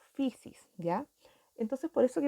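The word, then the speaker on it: φύσις: este concepto en griego se pronuncia como pixies ya entonces por eso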